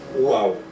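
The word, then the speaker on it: ו: Vai ter som, vai ser mais puxado para o U, ao invés do V, Vav, V, e sim Uau, porque tem um som de U.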